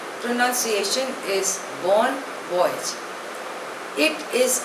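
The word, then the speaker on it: bon voyage: witnesses were excellent next word is बन wise spelling E बी ओ एन ी ओ वाई ए जीी ए pronunciation is बोन वॉयज इट इज अ French word it means good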